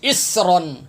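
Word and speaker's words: إصرا: حمزہ صاد زیر اس، اب یہاں پر کیا کرتے سین، حمزہ سین زیر اس پڑھ رہے ہوتے ہیں، اسرن، سیڑھی کے بعد نکالتے ہیں، سین پڑھتے ہیں، یہ تلفظ غلط پڑھتے ہیں، یہ صاد ہے، حمزہ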